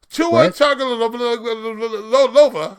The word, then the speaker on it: Tagovailoa: Tua Tagovailoa. That's how we pronounce his name now.